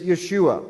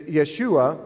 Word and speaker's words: Yeshua: So on the left-hand column, you'll see in Hebrew, the word is Yeshua. The phonics is in the middle, so you know how to pronounce it.